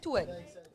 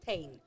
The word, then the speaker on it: tuin: They don't say toon. Toon, your toe is toon in Afrikaans. Yeah. They say tuin. Oh, tuin is a garden. Nee, that's tuin.